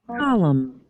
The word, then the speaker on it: column: Column.